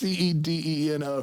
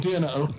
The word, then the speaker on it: Cedeno: You said Dino. It's Cedeno. There's only one N in there.